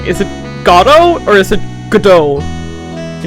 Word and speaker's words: Godot: It's not Gobo, it's Godot, Your Honor. Gobo. It's kinda good indicator that the T is silent.